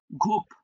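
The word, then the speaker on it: groupe: হুম, ঘুপ, ঘুপ, এটাই French word, ঘুপ, right, ঘুপ। না, প দিয়ে শেষ, প, ঘুপ। হ্যাঁ, বাংলায় লেখার সময় এই যে ফ্রেঞ্চ বানান এটা, আর ইংলিশ বানানে ই নাই।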